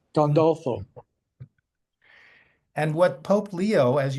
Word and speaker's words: Gandolfo: And Steve, how do you say it? Castel Gandolfi? Gandolfo. Gandolfo.